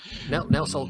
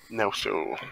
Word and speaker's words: Nelsol: Nelsol grunts in disapproval that you keep getting his name wrong. Nelson.